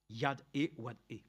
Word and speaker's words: YHWH: YHWH se prononce Yad-E-Wad-E.